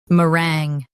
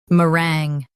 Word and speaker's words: meringue: Both US and UK have the same pronunciation of this word, meringue. Now read the syllables shown on the screen naturally. Rang, meringue. Emphasize rang and keep m soft.